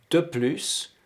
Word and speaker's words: de plus: moore et faites attention il faut prononcer le s de plus de plus on circule facilement on